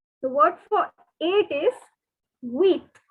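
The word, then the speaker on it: huit: word for it is wheat the h is silent okay so the word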